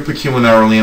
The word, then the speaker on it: pecuniarily: with you well you're pecuniarily involved and I like to remember the word this way it sounds like the word peculiar wouldn't it be peculiar